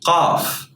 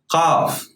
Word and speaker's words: ق: This letter is called Qaf. Qaf. But in words, as I told you, it's pronounced like a glottal stop.